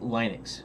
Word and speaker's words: Linux: I think Linux when I see it, but everybody pronounces it Linux, so it's Linux.